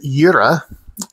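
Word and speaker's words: Jera: This rune is pronounced Yura.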